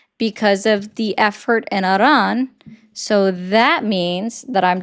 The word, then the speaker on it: Iran: him because of the effort in Iran. So that means that I'm just encouraging you to go fight alongside them because instead of sending someone else's Say Iran again? Say Iran, Iran again? it's Iran.